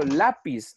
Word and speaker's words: lápiz: No puede ser aguda porque resulta que el acento no está en pis, está en la. Yo digo lápiz.